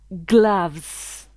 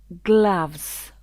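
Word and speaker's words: gloves: mot pour dire Gan on dit glaves glaves le haut se prononce comme un a glaves belt ceinture tie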